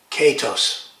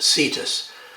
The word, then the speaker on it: cetus: In Greek it would be pronounced katos. But in Latinized versions, it's usually pronounced cetus. The C being soft, which is the way that the French pronounced the Latin C in medieval times.